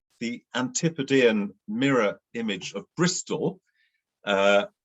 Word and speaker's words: Bristol: image of bristol uh which was originally called bristow but bristolians add an l uh at the end of every uh word ending with a with a vowel i think every any vowel or just certain ones so bristow bristol became bristol uh so all the